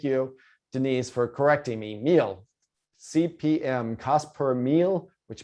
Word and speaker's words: mille: You don't see French pop up a lot in online advertising, but mille, there we go. Thank you, Denise, for correcting me. Mille, CPM, cost per mille, which means 1,000.